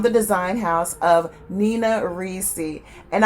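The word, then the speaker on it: Ricci: design house of nina reesey and i always pronounce it reesey it may be richie but i always say nina reecey the fragrance is l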